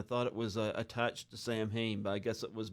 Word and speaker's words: Samhain: And Samhain is actually pronounced Samhain. It's a Gaelic term, Mm-hmm. and they don't kind of pronounce all the letters the way we're used to pronouncing the letters.